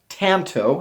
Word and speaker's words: tanto: the um pronunciation so the first one Tanto like that the second one I put this one just for fun but we had 5% of people vote for this and that's ton toe and then last well and then we had Tonto this is how I tried to write that out Tonto that's the way